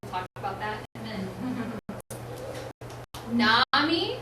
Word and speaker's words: nomy: about that a minute Nami is pronounced Nami and it is like in the end of the word economy and it means knowledge